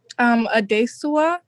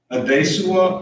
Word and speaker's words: Adesuwa: Adesua. Adesua. Adesua. Can you spell that for my court reporter? ADESUWAORIANWO. So it's basically pronounced just like it's spelled.